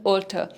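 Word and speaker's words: altar: Difference between ऑल्टर एंड ऑल्टर। Okay, ये दो words हैं, इनकी प्रोनाउंसिएशन सेम है बट the meaning is different.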